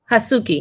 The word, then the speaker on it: Hazuki: Hasuki, yes.